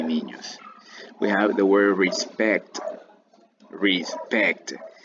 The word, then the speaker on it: respecto: we are the world respecto respect el acento va en la segunda sílaba respecto hablamos de aquella